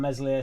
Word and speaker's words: Meslier: Statsman on Square Ball today had some compelling stats on Meslier, Silent S.